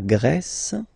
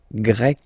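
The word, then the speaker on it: grecque: form GRE feminine form you write them differently but then if you listen carefully gre gre you pronounce them the same way okay Portugal portug portuges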